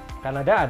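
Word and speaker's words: Canada: nggak enak gitu jadi nih enggaknya kada Oke Kanada adalah negara dimana saya lahir Oke kalau bilik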